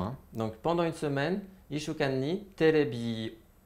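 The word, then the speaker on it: 一週間: Donc en exemple, je vous ai mis Ishuokan. Ishuokan, ça signifie une semaine. I, petite sou, shu avec allongement, kan, Ishuokan, donc une semaine, pendant une semaine, le kan c'est pendant, hein. Donc pendant une semaine, Ishuokan ni terebi o, donc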